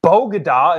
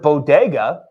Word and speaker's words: bodega: If you have a track record of saying puede instead of si se puede, and bogada instead of bodega, maybe make sure with your team that you're going to pronounce things right.